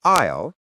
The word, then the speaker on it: aisle: It sounds exactly like the word isle. I will. So the walkway is the aisle isle. And a tropical aisle isle is an island. So, if you need to get up, you might say, "I need to walk down the aisle to the restroom." And if you're dreaming of a vacation, you might say, "I'll go to a tropical aisle." The sound is identical.